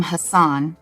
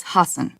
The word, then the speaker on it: Hasan: out of the way i wanted to pronounce your name hassan but i don't think that's correct i think it's hassan yeah hassan yeah all